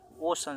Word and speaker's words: ocean: ई ए रहेगा चाहे आई ए रहेगा, तो ई जो सी है इसका उच्चारण तालव्य श का होगा, उच्चारण दंती स का नहीं, तालव्य श का हो जाएगा। ओशन, समुद्र।